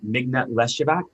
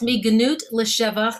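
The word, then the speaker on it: מגנות לשבח: but you talk about, and I'm going to mispronounce this, so I need you to correct me. But the Mignat Leshavak, the from degradation to praise. Yes, Mignut Leshavach.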